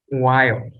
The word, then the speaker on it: while: up and down so while wild try that again wow yes these are these are words that are one syllable but the way that we pronounce the way natural speakers pronounce them sound like two so again last